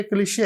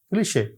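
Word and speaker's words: cliché: French words کی ہے۔ French کے تو ورڈز کے اسپیلنگ اور ان کے تلفظ جو ہیں وہ بالکل ہی مختلف ہیں عام لینگویجز سے اور خاص طور پہ انگریزی سے۔ مثلا آپ یہ ورڈ دیکھیے، یہ کلیشے ہے، کلیشے۔ اب ہمیں کوئی کلیشے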